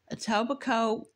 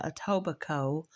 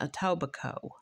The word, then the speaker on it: Etobicoke: right aoba Co or aoba Coke it's spelled c k e but when I listened to the word on the YouTube channel that I was researching they were pronouncing it a toico so if I got